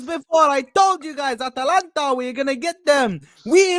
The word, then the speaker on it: Atalanta: Atalanta. That's how you need to say it. Atalanta! I told you guys 2 hours ago. 2 hours before, I told you guys, Atalanta, we're gonna get them.